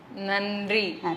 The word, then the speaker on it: நன்றி: இல்லாம நம்ம படிக்கும்போது நா நீங்க ஆங்கிலத்துல தேங்க்யூ அப்படின்னு சொல்லுவீங்க இல்ல அதுக்கு தமிழ்ல என்ன சொல்லுவீங்க நன்றி நன்றி அப்படின்னு நாக்க கடிச்சு சொல்லணும் சரியா ஏன் நாக்க கடிச்சு சொல்றோம்